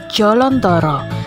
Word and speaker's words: Jolontoro: desiminasi dari kata jaladwara pengucapan jaladwara bagi masyarakat Jawa Tengah khususnya Prambanan dirasa terlalu kaku sehingga dalam pengucapannya sering disebut dengan jolodoro dan berubah lagi menjadi jolontoro jaladwara sendiri berasal dari bahasa